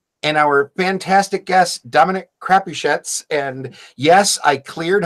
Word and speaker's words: Crapuchettes: And our fantastic guest, Dominic Crapuchettes. And yes, I cleared how to pronounce the name with him before the show started.